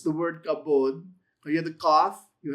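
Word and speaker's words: כבוד: It's the word kavod. You have the kaf, you have the kamats, you have the bet without the dagesh lene, so it's pronounced as a v.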